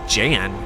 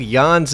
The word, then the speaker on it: Jan: ruin the moment but when did Yan's name start getting pronounced as Jan I'm not crazy either in the first game he is referred to as Yan by multiple characters so I'm not sure